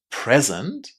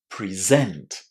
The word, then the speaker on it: present: If it's a noun or an adjective, present, or if it's a verb, present.